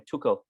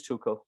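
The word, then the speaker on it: Tuchel: to have i mean uh what's his name tuko as uh his is how you pronounce his name seems to have two shoes so much no it is choco yeah so he seems to have all this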